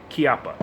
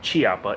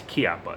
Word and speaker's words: Chiappa: start with the name Chiappa it's not Chiappa it's Chiappa it's an Italian name for an Italian company that isn't actually Italian so you pronounce it Chiappa now the reason I